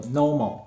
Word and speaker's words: KNOMO: 然后它的念法叫做 Nomo，它的 K 不发音。